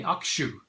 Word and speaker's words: Hakushu: going to review today hakuchu single malt hakushi distillers reserved single malt from japan from the hakuchu distillery if you want to pronounce it the way that the Japanese do you would say Akshay the actual distillers reserved